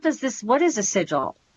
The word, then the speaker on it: sigil: It's sigil, right?